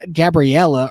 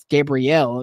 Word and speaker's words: Gabrielle: So, I said Gabriella earlier and it's not. Gabrielle, Gabrielle, Gabrielle, Gabrielle. I have to make sure I remember how to say it correctly, but that'll be making its way off out to sea.